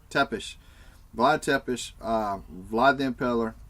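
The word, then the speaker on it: Țepeș: It's Tepes. Tepes.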